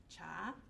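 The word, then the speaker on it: 茶: The name for tea is more coming from the northern dialect of Chinese, Mandarin, and the pronunciation of the word for tea is cha, right?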